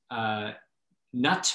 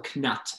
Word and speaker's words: knut: You have the galleon, the golden galleon, the silver sickle, and the bronze nut or knut, and it's spelled K-N-U-T.